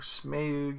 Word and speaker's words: Smaug: arrow is what killed Smaug, or Smaug if you pronounce it that way.